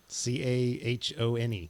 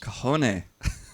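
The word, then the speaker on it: cajón: How do you think it's spelled? Cahone. Oh, dude, you're so close. Cajone.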